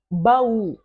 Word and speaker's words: baú: Outra palavra, baú. Baú, baú, baú. Então, qual é a sílaba tônica? Pois é, u, ba, u. U é a sílaba tônica.